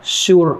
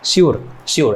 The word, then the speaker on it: sur: में ये कहते हैं, ये सुर नहीं है, इसको एक्चुअली फ्रेंच में श्योर कुछ ऐसा ही प्रोनाउंस करते हैं, श्योर ऐसा बोलते हैं फ्रेंच में, श्योर।